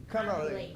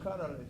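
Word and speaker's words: Conerly: Pronounce his name for the record, please. Danell Connley Conway. Connley. Connley.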